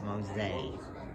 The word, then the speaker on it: Mose: free free blacks now the correct pronunciation is Mosaic Port mosaic and uh the runaway